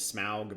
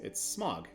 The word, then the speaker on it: Smaug: I know that sometimes they pronounce it as Smaug, but I don't like it.